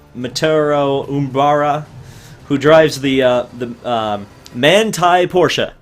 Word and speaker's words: Manthey: Maturo Umbara, who drives the Manthey Porsche. I finally figured out how to pronounce that, by the way. It's not Mathenly.